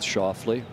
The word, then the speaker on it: Schauffele: He's asking for it to land softly, which for our friends in Memphis rhymes with Schauffele.